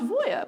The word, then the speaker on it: Voja: this episode It's pronounced Voya oh it's pronounced Voya okay all right yeah I'm